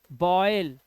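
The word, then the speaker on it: boil: चलिए rule number 33 कहता है जब किसी वर्ड में OI आए तो ओ आई को ऑय पढ़ना है, ऑय। जैसे बॉयल, क्या पढ़ना है, बॉयल।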